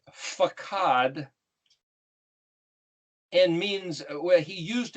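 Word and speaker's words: פקד: we've mentioned before that that word pekuf dalit means is pronounced fakhad and means where he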